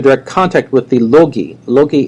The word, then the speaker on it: logoi: Logi, that's a logos is one, right? And logi is more than one, or logoi if you use the classical pronunciation.